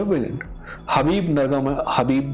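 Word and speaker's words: Khabib: हबीब नरगम, हबीब जो है, खबीब नहीं कहेंगे हम क्योंकि हम इंडिया पाकिस्तान से, हमें पता है कि उसका नाम हबीब है और हम इज्जत से हबीब बोल सकते हैं।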